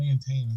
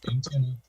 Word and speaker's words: antenna: I used to say antenna all the time until my wife just kept after me. So now sometimes I still slip and go, you know, that antenna, you know, but it's antenna. Texas.